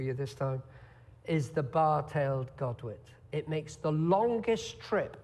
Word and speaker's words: bar-tailed godwit: it properly for you this time is the bar-tailed Godwit it makes the longest trip ever known from